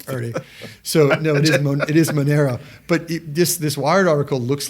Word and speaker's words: Monero: So Monero, I was on with a client yesterday and I kept mispronouncing it as Moneda, and Moneda is a financial services company that has nothing to do with Monero, which is both spelled and pronounced differently.